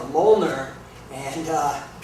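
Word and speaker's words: Mjolnir: a Moler and uh it's spelled very weird it doesn't uh it's not phonetic it's m j o l l n i r and it's uh it's a reference to Norse mythology actually Thor is the name of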